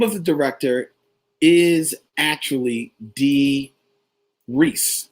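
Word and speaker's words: Dee Rees: the director is actually d rhys like reese witherspoon it's mentioned in a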